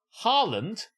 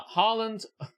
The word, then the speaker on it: Holland: chin don't they all Harland it's pronounced Holland and actually it's the